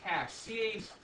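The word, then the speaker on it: cache: cash you have cash cash t-h-e is pronounced cash like c-a-sh yeah it's just a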